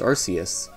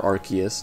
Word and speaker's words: Arceus: So first up, releasing very early on in the year, is Pokémon Legends Arceus, or Arceus, depending on how you pronounce it.